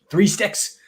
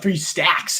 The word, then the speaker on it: 3 Stacks: 3 sticks coming up. 3 stacks is how to pronounce it.